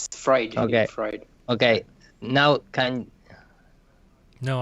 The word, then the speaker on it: Freud: Oh, how you pronounce? Sorry, guys. You got it. Freudian slip. Yeah, it's Freud.